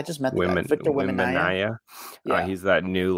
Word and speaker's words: Wembanyama: Victor Wembanyama. I just met the guy. Victor Wembanyama.